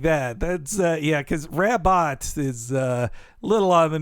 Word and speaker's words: Rabbot: comic they retcon that her name is actually rabo it's a French pronunciation she's from she's from like a Mobius new orans I like that that's yeah cuz rabbot is uh little on